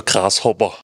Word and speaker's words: Grashobber: Ja, also das heißt jetzt, genau ausgesprochen, der Grashopper.